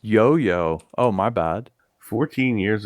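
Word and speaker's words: IOIO: Pronounced Yoyo.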